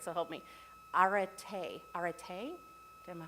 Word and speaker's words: arete: right, so help me, arete. Arete? Am I pronouncing it right? It's A-R-E-T-E with a little thing over the E.